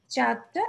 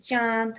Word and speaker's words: চাঁদ: এর কোথায় বসেছে উপরে তাহলে দেখো কোথায় বসলো চাঁদটা এই যে এইখানে চন্দ্রবিন্দু চাঁদ হ্যাঁ একটু নাক দিয়ে একটা নেজাল সাউন্ড হবে চাঁদ তারপরে কাঁঠালের কাঁঠাল হ্যাঁ দেখা যায় যে আমরা